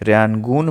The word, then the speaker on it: Rayungan: That is called, मैं spelling लिखता हूँ, ये इंपॉर्टेंट है, थोड़ा ध्यान दीजिएगा, RAYUNGAN, ठीक है, रैनगून मेथड, ठीक है।